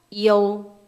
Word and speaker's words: iu: 그래서 얘를 IU를 앞으로 보면 이유가 아니라 이요 이렇게.